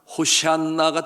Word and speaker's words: 호산나: 여러분이 호산나, 원어의 발음대로 하면 호시안나가 됩니다. 호시안나, 호시안나, 우리를 구원하소서. 그처럼 저들이 환호하며 환영하며 예수 그리스도를 환영하게 되었습니다.